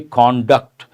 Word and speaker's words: conduct: have an important word conduct experiments here conduct is a verb but the same word can also be an adjective then the pronunciation changes we have to say conduct conduct certificate means what